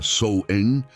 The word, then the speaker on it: Samhain: o ano novo Celta samhain que se pronuncia souen significava o fechamento de